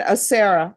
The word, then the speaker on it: Acera: Stephen Acera. Am I pronouncing that correctly? Thank you. Okay, then Norma says I'm pronouncing it correctly, but then she puts a heavy accent on the R.